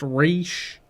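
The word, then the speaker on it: Ra's: we saw her, where she properly told everyone it's pronounced Raish?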